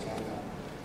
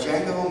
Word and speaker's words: Django: I'm in Quentin Tarantino's Western that's coming out, Django Unchained. Yeah. I'm in the sequel. It's Leonardo DiCaprio, Sam Jackson, Christoph Waltz, Jamie Foxx. Jamie Foxx is Django. The D is silent, if you've seen the preview.